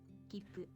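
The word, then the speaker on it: きっぷ: Instead, you treat it as a very brief pause before pronouncing the next consonant. Kippu.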